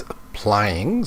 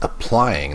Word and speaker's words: applying: Okay, that word there was applying. So this is one of the reasons why she got a 5 for pronunciation. It's applying, not applying. Applying for the postgraduate program.